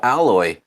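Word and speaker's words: Aloy: victory you see a statue of alloy that's her name hello right that's how you pronounce it they see the statue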